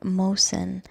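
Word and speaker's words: Mohsen: question is about Mo Mosen am I pronouncing his name correctly Mo Mosen Mosen I feel like the H is silent Mosen m o h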